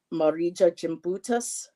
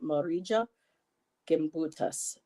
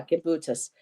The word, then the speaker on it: Gimbutas: um she's on the list as well um marija jimas um the language of the Goddess I'm probably not pronouncing her name right marija gimbutas gim yeah gimbutas Allah with Joseph Campbell the language of the